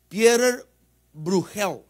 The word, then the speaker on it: Pieter Bruegel: Como es holandés, el apellido está bien delicado, ¿verdad?, de pronunciarlo, pero es Pieter Bruegel.